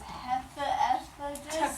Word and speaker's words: Hephaestus: A PH makes an F sound. So when we see these 2 letters next to each other, it is spelled Hephaestus.